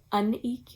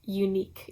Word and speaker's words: Uneek: I had been thinking it was called uneek yarn this whole time, and then it just occurred to me that it's probably pronounced unique yarn because Earth is also spelled URTH.